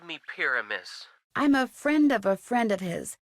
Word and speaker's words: Pyramus: Let's try Pyramus. I believe that's how it's pronounced. Not Pyramas like pajamas.